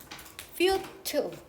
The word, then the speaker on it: futile: 이제 어려운 단어로 futile 혹은 futile이라고 읽습니다.